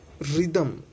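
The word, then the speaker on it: rhythm: Okay, next रिदम, री दम आर वाई री दम, एच का कोई यूज नहीं।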